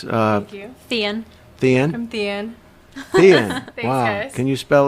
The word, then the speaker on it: Tien: So It looks like Tien. Like there's like an H in there. Like, yeah. So I always say like, hi, I'm Tien, like the end of a book.